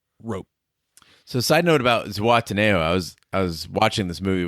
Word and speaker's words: Zihuatanejo: I believe the two characters actually, Red and Andy, pronounce it differently, but I believe it's Zihuatanejo. Zihuatanejo.